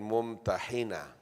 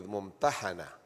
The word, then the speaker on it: Mumtahanah: So both pronunciation are correct mumana and mum but the famous one is mumana alashshar the famous one and the most ra